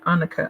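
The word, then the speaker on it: Anneke: anuka Lewis Lucas yeah a n n e k e that's her first name anuka I think she said on the video that's how she pronounced it I believe and then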